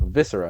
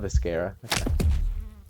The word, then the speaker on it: viscera: much during Scarlet Hollow viscera not viscara but see what meaning